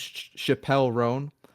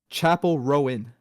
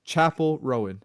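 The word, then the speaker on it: Chappell Roan: the way I've been saying it she loves Chappelle ran but I discovered be like she's a dieh hard fan she she was like that is not how you pronounce it it's Chapel rone right CH Chapel Rowen Rowen Chapel Rowen yeah so it's Chapel Rowen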